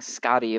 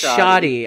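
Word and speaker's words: Shadi: all right this is how do you say his name then SK because it's not a k Scotty Scotty shotty shotty oh it's shotty I'm saying it completely wrong my bad shotty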